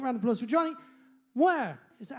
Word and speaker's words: Muir: Can we have a brilliant round of applause for JONNY MUIR? Is that how you pronounce it? Muir?